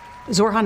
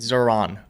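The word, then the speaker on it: Zohran: Zorhan Mandami, 34year-old Democratic Socialist, doesn't say his name right. Democratic Zorhan Mandami, 34y old Zoran, Democratic socialist.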